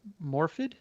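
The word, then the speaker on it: Morfydd: This woman's name I'm going to pronounce Morfid. Mm-hmm. Is that correct?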